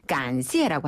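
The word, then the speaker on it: 感谢: 감사라고 글자 그대로 발음하는 것을 간시에라고 하죠.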